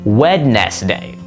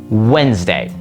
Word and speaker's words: Wednesday: looks like it's pronounced wedest day. But in reality, that is how you spell it. The way you actually pronounce it is much more condensed. Wednesday.